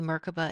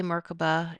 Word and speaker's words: Merkabah: I say Merkabah, it's smoother, it's faster, it's easier. Some people say MerKaBa. All are correct. There are many pronunciations, but it is broken down as Mer, divine, Ka, light, Ba, vehicle.